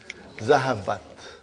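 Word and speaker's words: ذهبت: How do you pronounce it? Zahabat.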